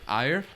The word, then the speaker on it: Ajer: How do you pronounce it? Ajer.